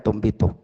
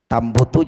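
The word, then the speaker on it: تُنْبِتُ: Maka fainnaha la tumbitu tumbitu saya lebih apa namanya cenderung membacanya tumbitu. Memang kalau dibaca tambutu juga bisa. Tapi itu tadi tambutu nanti dia fi'ilnya fi'il apa? Lazim. Sementara di sini fi'ilnya lebih tepatnya mutaaddi.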